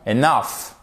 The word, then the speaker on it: enough: Mais attention, enough. Accent tonique ici sur la seconde syllabe et fair et pas fair.